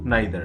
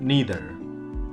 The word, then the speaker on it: neither: आइदर है और इसका नाइदर है। ठीक है, अगर हम बात करें यूनाइटेड स्टेट्स ऑफ अमेरिका की तो वहाँ पे इसे क्या बोलते हैं, ईदर और नीदर, ईदर और नीदर नोर।